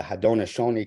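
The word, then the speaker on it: Haudenosaunee: in massive chaos as the hadonashoni Confederacy which we sometimes learn to speak of as the Iroquois Confederacy but that's not the right way to say it and I don't show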